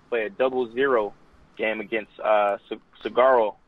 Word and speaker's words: Saguaro: We play a 0-0 game against Saguaro. I think the G is silent there.